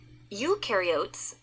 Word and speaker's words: eukaryote: Eukaryotes, the U rhymes with do, they do have membrane-bound organelles.